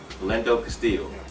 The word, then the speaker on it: Philando Castile: But before I keep saying his name wrong. Philando Castile.